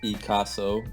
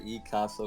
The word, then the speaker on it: Ecasso: Yo, this is Ecasso, and I appreciate you saying Did I say it right? Kind of. Oh Yeah, you said shoot. Ecasso. I said Ecasso, kind of like Picasso.